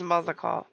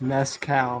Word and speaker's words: mezcal: I often come here to buy Gobley's Mazakal, the finest in Tyrol, according to my customers. I think it's pronounced mezcal, ma'am.